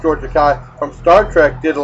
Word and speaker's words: Takei: Godzilla, but George Takei from, I believe it's pronounced George Takei, from Star Trek did a lot of the dubbing in all these monster movies.